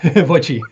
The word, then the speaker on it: VOTCHI: name because I guess it could be vachi or voi right yeah the second the second choice voi yeah welcome it's very